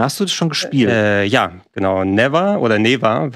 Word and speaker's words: Neva: Neva wird es ausgesprochen im Spiel, ist von dem Team, das Gris gemacht hat vorher.